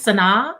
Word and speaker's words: Sanaa: It's Sanaa. It's like Sinatra without the tra.